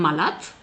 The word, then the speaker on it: malade: So, we ‘ll say”dès fikes” even if it is written “dès figues”, “salate”, even if it is written “dèl salade”; it makes him “malate” even if it is written “malade”, and so on.